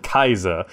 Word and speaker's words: Caesar: Hey guys, welcome back to Caesar 3, or some people pronounce it Kaiser, Kaiser 3.